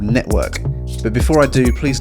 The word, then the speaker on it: NETVRK: just my personal opinion so it's spelt net to work to emphasize the vr aspects of this metaphors but i'm going to be pronouncing it network it's so as to avoid sounding a little too germanic network is a social